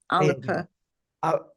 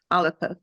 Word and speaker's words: Alba: Alber party Alba Alba alip Al the Scott pronunciation is aliper alipa okay all right what's